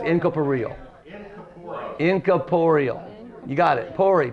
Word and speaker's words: incorporeal: inap incum closer incap no it's incal inap Inc Caporal you got it por p o r r